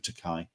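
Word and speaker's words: Takei: um the new memoir it rhymes with rhymes with teai and um reflecting on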